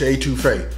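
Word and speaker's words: étouffée: smoking and Grilling and today we making crawfish A2 fa with me a that's right you guys read it now you heard it and it's going down crawfish A2 Fe hey it is pronounced A2 F so listen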